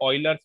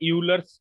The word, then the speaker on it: Euler's: देखो इसकी स्पेलिंग होती है EULER नंबर, पर इसको रीड आउट जब अपन प्रोनाउंस करते हैं तो ऑयलर्स पढ़ते हैं। मतलब इस टाइप में इसको पढ़ा जाता है, ऑयलर्स। स्पेलिंग में ये यूलर्स टाइप का साउंड होता